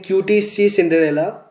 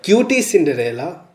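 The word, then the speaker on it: QTCinderella: And there was another case in 2025 relating QTC Cinderella. Sorry, cutie Cinderella. I didn't know how to pronounce that, but it is cutie Cinderella, which had expressed concern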